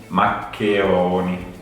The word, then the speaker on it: maccheroni: Karena ada double C dan ada CH yang dibaca K dengan penekanan itu tadi.